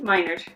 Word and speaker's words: Minard: It's pronounced Minard? Minard.